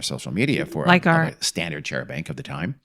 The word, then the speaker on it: charabanc: There was a chair bank trolling along the road, this same stretch of road in Dartmoor.